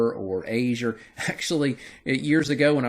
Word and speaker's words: Azure: You may pronounce that name, that word, a little different than I do, Azure or Azure or Azure.